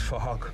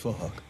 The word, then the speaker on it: Phuc: His name is Phuc, but it's spelled with a PH, so it sounds like Phuc. So it's Phuc.